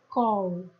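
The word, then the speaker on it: כל: E a minha pronúncia então é kol.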